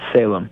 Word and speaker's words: Salem: And the project right now that's out is, I need to ask you, is it pronounced Salam or Salem? It's Salem.